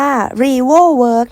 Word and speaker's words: REVO-WORKS: เซ รา มิก ค่ะ ชื่อ ของ เขา อ่าน ว่า รีโว่ เวิร์ค นะ คะ ของ เขา มี ให้